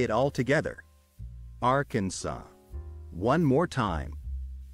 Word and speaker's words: Arkansas: say it all together Arkansas one more time Arkansas now let's split the word into syllables and then pronounce each syllable one by one are can so thank you for joining